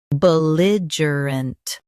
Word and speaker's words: belligerent: buh lidge uh unt belligerent Stress li and soften uh and unt.